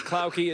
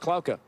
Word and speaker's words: Klauke: At least 10 to 12 different variations, but it is Klauke. It's a German background, although in Germany it's actually pronounced Klauke.